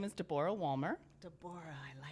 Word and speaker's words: Deborah: so my name is Deborah Walmer Deborah I like this it's actually the old pronunciation it's considered the Hebrew pronunciation yeah and in fact